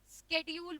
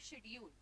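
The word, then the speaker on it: schedule: से बोल रहा है, अब एक पर्सन स्केड्यूल बोलता है, ठीक है, और एक पर्सन बोलता है शेड्यूल, ठीक है? This is द वे of saying, ठीक है? प्रोनाउंसिएशन और दोनों ही एक्सेप्टेबल हैं क्या?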